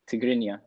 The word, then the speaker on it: Tigrinya: Tigrinya.